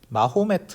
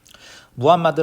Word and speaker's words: 무함마드: 상인인 무함마드가 등장하게 됩니다 무함마드는 뭐 유럽 식으로는 마호메트 라고 부르는데 옛날에 마음에 터 라는 말을 더 많이 썼어요 근데 이제 그 쪽 발음의 당연히 존중을 해줘야 겠지 그래서 무함마드 라는 명칭을 쓰는 데 아 자 이 사람이